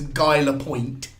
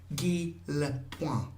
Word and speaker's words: Lapointe: It looks written as though it says Guy Lapointe, but it is Guy Lapointe. Point. Guy Lapointe. I think it's Guy Lapointe. It's not point because there's an TE at the end.